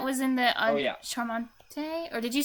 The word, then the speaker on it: charmant: Charmante? Or did you say... Charmant. Charmant. Jamie Charmant. underscore Like BGJ SH? says LUL. But CH is not always pronounced as SH. It depends a bit on the situation.